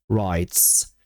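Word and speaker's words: wrestle: Wres. Okej. Popatrzcie moi drodzy. Wsłuchajcie się. Ja tego w nie wymawiam. Tego się nie wymawia. Zaczynamy od wr.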